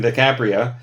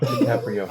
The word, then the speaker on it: DiCaprio: have seen way more of his movies than DiCapria. I have rewatched way more of his movies than DiCapria and I continue to watch it correctly. He'll never say it correctly. No DiCaprio.